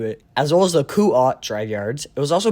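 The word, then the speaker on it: Kuat: drivey guards and yes I finally pronounced it right make sure let me know down below I was pronouncing it Kuwait this whole time so yeah uh that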